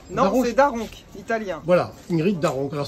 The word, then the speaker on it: Da Ronch: Alors Ingrid, alors ça se prononce, tu me dis si je prononce bien, c'est Daronche? Non, c'est Daronc, italien.